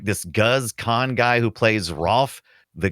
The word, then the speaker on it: Guz Khan: It is Guz Khan, right? And if you want to see Goose Khan in like things like watch British reality TV, and it's not reality.